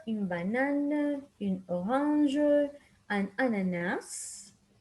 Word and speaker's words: ananas: Une pomme, une banane, une orange, an ananas. Remember that here we pronounce the S in the end.